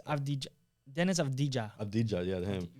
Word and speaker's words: Avdija: It's Avdija. Dennis Avdija. Avdija, yeah, him. We're going to butcher these.